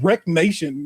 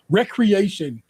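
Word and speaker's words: Wreckreation: Wreck Nation, no, recreation, but spelled like a wreck, a car wreck was another racing game this year.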